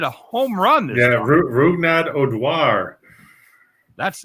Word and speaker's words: Rougned Odor: Oh, okay, so it's Rougned Odor. Correct. I had to look it up to get the pronunciation.